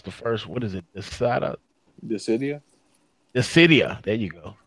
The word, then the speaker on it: Dissidia: I can't pronounce the first. What is it? Dissidia. There you go. Dissidia.